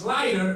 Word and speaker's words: light: i g HT and you don't pronounce the GH cuz if you did